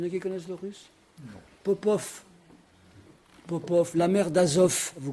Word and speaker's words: Popov: Ben, Popov s'écrit avec un V en russe. Parce que la femme de Popov s'appelle Popova. Ah, on entend un V, ben ils écrivent un V.